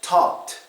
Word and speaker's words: talked: a voiceless sound so how do we pronounce this word well it's talked talked softy sound talked or for the next